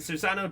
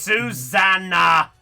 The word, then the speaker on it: Susanna: It's Susanna. So that. Yeah, think of the song. Oh, Susanna, that one.